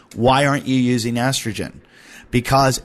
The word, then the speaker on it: AstraGin: see in all my supplements, and that is estrogen. That's spelled ASTRAGIN.